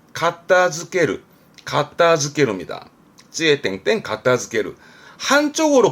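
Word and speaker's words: 片付ける: 그래서 발음은 가타즈케르, 가타즈케르입니다.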